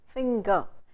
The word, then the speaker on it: finger: Okay, so you say sing, hang, finger. In finger, it's not the sound ng. It's a combination of two vowel sounds n and g.